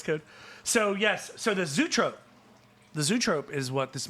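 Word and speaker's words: zoetrope: In the first one, they had the circus toy music box, and then this is Zootrope, which I had to find the correct pronunciation because I've never heard that.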